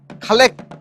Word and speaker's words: খালেক: খালেক উচ্চারণ করতে পারে না। ওই খালেক মেম্বারের জায়গা উচ্চারণে ভুল করে বেশিরভাগ ওই খাটাস মেম্বার বলে।